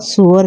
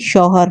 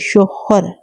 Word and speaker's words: شوہر: میں نے چھینپ کر کہا، سور نہیں، شوہر، شوہر۔ وہ اپنا تلفظ درست کرتے ہوئے بولی، شوہر۔ یعنی بیوی کو جوجو